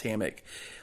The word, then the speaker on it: hammock: how do you pronounce hammock? Leave how you pronounce it phonetically and where you are from. I pronounce it ham, as in the meat, and mock, as in taunting someone. So hammock.